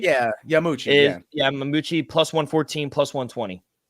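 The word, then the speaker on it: Yamauchi: How do you pronounce that? Yamayuchi? Yeah, Yamuchi.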